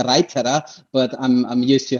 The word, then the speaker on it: Reiter: correctly is that correct well almost to like every english-speaking person would pronounce it in in the place where i'm coming from it's a raita but i'm used to